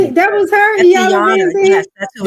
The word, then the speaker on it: Iyanla: Iana. Oh, that's it. That was her. That's Iyanla Iyanla.